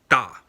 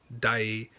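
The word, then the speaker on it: 大: So one basic example is how to say big in Mandarin is da, and in Cantonese it's dai, and in Japanese it's also dai.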